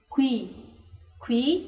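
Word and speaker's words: 귀: Qui, que significa orelha. Qui, uma dica para você pronunciar é Ku e o I. Tem o U e o I. Então, tenta pronunciar devagarinho. Qui, ui. Agora rápido. Qui.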